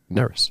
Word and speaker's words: Nerys: peace and love uh nerys it's pronounced like it rhymes with Ferris oh so you did it right nerys yeah nerys n that